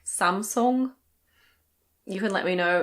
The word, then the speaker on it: Samsung: I think in Korean it's something like Samsung. You can let me know in the comments if you speak Korean, but in any case, in English we say Samsung.